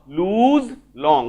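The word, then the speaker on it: Luz Long: तांको ना लूज लॉन्ग भले उच्चारणटा सुनुथुबो लूज लॉन्ग गोटे ज रो उच्चारण आसुची ज ठीक अछि तो लूज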